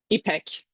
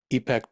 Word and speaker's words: Ipek: It's pronounce it? Ipek.